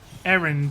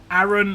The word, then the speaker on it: Aaron: Aaron or Aaron? Like, Americans pronounce it as if there's an I in there.